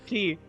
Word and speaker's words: Ki: It's Ki. It's Ki, not Chi, so close enough though.